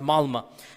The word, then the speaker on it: Malmö: And in Stockholm, if you have 10% Muslim, I was in the city of Malmö, it's spelled with an O, but it's pronounced Malmö.